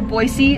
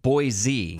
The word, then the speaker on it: Boise: think it is right I always said Boise but when I went and did some stuff on the Boise TV station my cousin's made sure I said it right so I sounded like a local Boise Boise not Boise so when I went